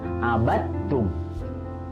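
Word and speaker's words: عبدتم: dengan ta, hukumnya adalah idgham mutajanisain, artinya dimasukkan karena bertemu dengan huruf yang sejenis, ya, jadi dalnya tidak perlu dibaca, langsung masuk ke huruf ta. Ya, abattum.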